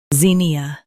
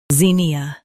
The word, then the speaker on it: Zinnia: Emphasize zin and soften ia. Zin, E, ZINNIA.